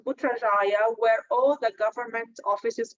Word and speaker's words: Putrajaya: Now they are connecting the Putrajaya, which we can call it the governmental capital, because actually capital of Malaysia is Kuala Lumpur, but they have a state called Putrajaya where all the government offices are over there,